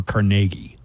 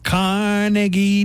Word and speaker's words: Carnegie: Do you pronounce Carnegie Deli Carnegie or Carnegie?